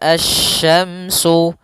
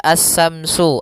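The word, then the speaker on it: الشَّمْسُ: Jangan dibaca as-samsu, as-samsu wal qamaru, bukan. Atau juga as-samsu dengan sa, bukan.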